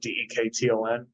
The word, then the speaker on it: Dekton: That's how you pronounce it, Dekton.